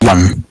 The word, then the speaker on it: Jan: By the way, Jan is German, so it's pronounced Jan.